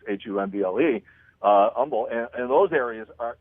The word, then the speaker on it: Humble: called humble it looks like it should be pronounced humble it's h um ble humble and those areas are you're gonna be